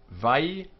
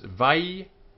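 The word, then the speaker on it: וַיִּקְרָא: On the va with the dagesh forte, we've spoken about this before. It's Vayikra. So this vai is what we're calling in this textbook a sharpened syllable, and it's closed.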